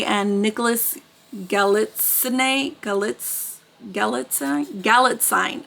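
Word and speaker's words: Galitzine: Nicholas gallit galit galit galit sign I think it's how you say it because she said it rhymes with Magazine on gallet sign whatever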